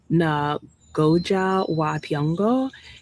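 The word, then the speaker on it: Ngũgĩ wa Thiong'o: But then the author of this book, whose name I believe is pronounced Nagoja Watyongo, he um, woke up one morning after having dreamt and thought about, how did those 10 end up at the door?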